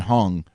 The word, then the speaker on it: Huang: Interesting side note, a leather jacket that was worn by Nvidia CEO Jensen Huang or Wong is how you pronounce the last name.